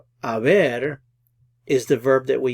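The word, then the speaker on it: haber: Aver is the verb that we use with compound verb tenses as an auxiliary verb so notice it's the H is silent you don't pronounce the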